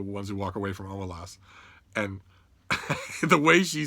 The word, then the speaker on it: Omelas: And Ursula Le Guin, bless her heart, said, "Well, I pronounce it Omelas, but it's a story.